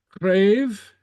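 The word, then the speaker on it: cnàimh: to remember okay uh crave crave uhuh a bone uh a bone crave and remember the CN is pronounced like a CR okay okay and we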